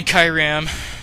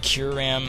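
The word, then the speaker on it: Kyurem: So he sends in a Kyram, or Kyuram. There's a lot of pronunciations for that, but whatever. I call it Kyram, because why not?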